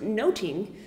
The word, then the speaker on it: nothing: and sexuality but also it would have been pronounced noting so it can mean